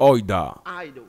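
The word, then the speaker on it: οἶδα: Le mot est traduit par oida ou aido. Vous voyez comment je l'ai prononcé? Ben, les deux marchent.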